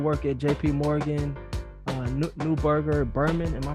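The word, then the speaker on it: Neuberger Berman: you um did work at jp morgan uh newberger berman am i pronouncing that right yep that's right that's right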